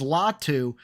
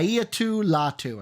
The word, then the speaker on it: Latu: latu or yeah right La Lau latu I think is how you say his first name they're taking latu add